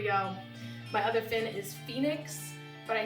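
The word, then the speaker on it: Faenyx: My other fin is Phoenix, but I spell it F-E-A. I can spell things. F-A-E as in Faye, and then N-Y-X as in Nix.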